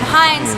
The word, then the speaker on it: Hynes: And then Hynes sounds like the ketchup, which is cool because I've got the red hair going on, but it's spelled a little bit differently.